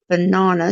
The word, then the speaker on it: banana: as quite correctly um of course we sometimes say na but nana banana so you've got the long a there but if you can